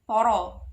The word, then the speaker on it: para: Sang, si, para, lan, poro. Tulisannya para, bacanya poro.